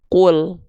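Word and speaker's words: قُلْ: Maka lam di sini kita baca qu ya. Qu di sini ditambah el. Jadinya apa? Jadinya adalah qul. Tuh paham ya? Dibacanya jadi gimana? Qul.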